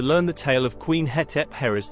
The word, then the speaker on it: Hetepheres: Firstly, her name pronounced in hieroglyphics as Hetep-herres, not Hetep-herres as some people pronounce it in YouTube videos, articles or books.